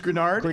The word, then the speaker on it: Greenard: and a half sacks are greenard um defens it is grenard I put pronouncer in